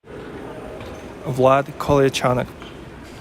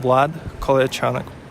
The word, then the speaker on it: Vlad Kolyachonok: And how is it pronounced? We have it right here. You got it? Vlad Kolyachonok. One more time. Vlad Kolyachonok.